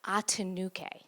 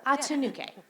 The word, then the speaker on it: Atinuke: But I think she says Atinuke. I think that's how I pronounce it.